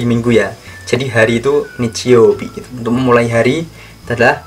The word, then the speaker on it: 日曜日: Hari Minggu yaitu bahasa Jepangnya Nichiyobi.